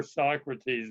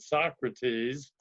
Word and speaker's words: Socrates: I learned to pronounce it Socrates, and I was corrected. It should be pronounced Socrates.